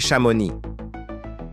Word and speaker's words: Chamonix: Malheureusement, le nom de ces villes sont souvent mal prononcés. On dit aussi Chamonix.